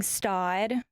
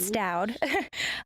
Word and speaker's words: Staud: We love carrying Staud. Some people pronounce it Stoud.